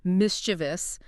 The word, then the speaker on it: mischievous: get them right, like mischievous. That extra syllable pops in because we're over-enunciating, trying to make sure we say every single letter.